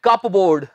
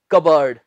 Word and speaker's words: cupboard: बहुत से लोग इसे बोलते हैं कप बोर्ड। जी, ये कप बोर्ड नहीं होता, ये है कबर्ड, कप बोर्ड नहीं।